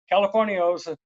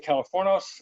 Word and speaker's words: Californos: So Californios And I was fortunate because we dropped the I out of the word so that people wouldn't be pronouncing it like a gringo, because gringos would say Californios. It's actually Californos. The I is silent.